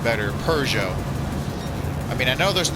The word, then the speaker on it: Peugeot: But I like the European pronunciation better, Peugeot.